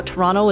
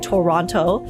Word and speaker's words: Toronto: language, it's funny how Toronto is pronounced Toronto. I guess you could say Toronto, but it's it's like there's certain English words that you just kind of you drop some of the syllables cuz it's not s like Toronto.